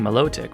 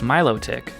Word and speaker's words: Milotic: Another common one is Milotic. I can't be the only one that was saying Milotic, right? Actually, it's Milotic.